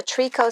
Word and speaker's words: tricot: just look it up it's spelled t r i c o t looks like tricot uh and it's like